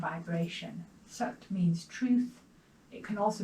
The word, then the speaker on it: Sat: Sat is spelled S-A-T, but it's an A without a little mark over it, so it's an Sat.